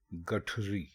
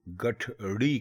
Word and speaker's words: گٹھری: اس میں پہلا لفظ ہے گٹھری. گٹھری درست ہے، لیکن اکثر لوگ اس کو ڑے کے ساتھ بولتے ہیں، یعنی وہ گٹھڑی کہتے ہیں. تو گٹھڑی درست نہیں ہے، درست لفظ ہے گٹھری.